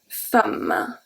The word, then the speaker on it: femme: those during the course when the E is pronounced as a A, and you already know one of them. Une femme. Femme is one of the words that you learn at the beginning.